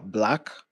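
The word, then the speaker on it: 6LACK: So there's no like pronunciation for the name, you know, like there's this artist called uh Black, but the way he writes his name is 6 L A C K.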